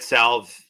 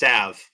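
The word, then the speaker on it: salve: Yeah, that salv that I Okay, so I've been saying it wrong forever, right? It's savv.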